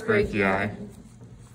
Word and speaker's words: brachii: Biceps brachii. Spelled funny because this is spelled B-R-A-C-H-I-I.